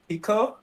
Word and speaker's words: Hiko: beginning um is it is the right way to say your name or do you prefer like hiko i don't know exactly what you're going for so yeah ideally hiko hiko okay yeah yeah that's